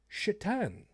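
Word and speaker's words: Šatan: buffalo sabres had as their goalie a mr chatan for a while that is how his name was pronounced it's spelled satan but it's pronounced so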